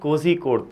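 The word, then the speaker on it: കോഴിക്കോട്: So at least if you can't pronounce the actual name, कोड़े तो मत बोलो, कोझिकोड तो बोलो कम से कम, ठीक है।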